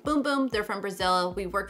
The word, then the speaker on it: Bum Bum: get comments saying it's bum bum not boom boom but know it the brand actually likes it pronounced boom boom they're from Brazil we've